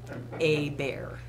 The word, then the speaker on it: Hébert: His name was Norman Hébert, which is pronounced in the Cajun fashion, a bear.